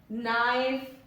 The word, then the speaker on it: knife: Most words में क्या होता है कि N अगर आ रहा है K के बाद में, the letter K will be silent. Need, knife, night, knock, not, no.